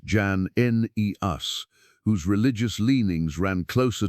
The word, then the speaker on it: Jannaeus: At a certain point, the community found itself with a degree of favor during the reign of a ruler named Alexander Jannaeus, pronounced Jan-Neus, whose religious leanings ran closer to their own and against their rivals.